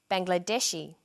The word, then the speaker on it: Bangladeshi: Chinese Vietnam Vietnamese then there's the i group pronounced e Bangladesh Bangladeshi Kuwait Kuwaiti and some nationalities are formed